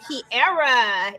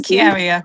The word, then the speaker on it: Kiaria: Kiara in the building. Is that how you pronounce it? No, it's Kiaria, but Kiara. Okay, I'm used to that.